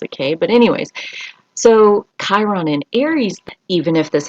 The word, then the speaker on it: Chiron: encountered we all have chiron somewhere in our charts you can look for the little k uh even though it's spelled with a ch riddle me this um